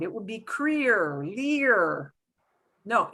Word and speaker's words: leer: So instead of ler, it'll be leer.